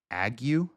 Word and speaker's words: ague: I will even appoint over you terror, consumption, and the burning ague, A-G-U-E. How do you pronounce that?